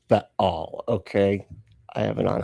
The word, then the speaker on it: Baal: and it's pronounced Baal, okay?